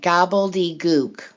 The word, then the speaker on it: gobbledygook: gobbly i'm not even saying it right gobbledygook so like globe something like literally sounds like globality gloop yeah it's spelled